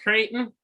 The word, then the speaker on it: Creighton: It's pronounced Creighton.